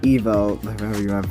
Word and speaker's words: Evo: say myth evo dragon or evo pronounced it as in like evolution or the evolved form of dragon if you get it